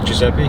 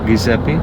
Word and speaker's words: Giuseppe: uh how do you say your name Giza Giuseppe Giuseppe yeah all right so did you know your